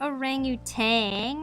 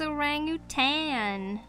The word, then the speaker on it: orangutan: I remember watching a thing as a kid where they were like, it's not orangutan, it's orangutan. That's the correct way to pronounce it.